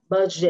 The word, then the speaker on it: budget: Rồi anh chị đọc lại cái từ phát âm này giùm em với budget.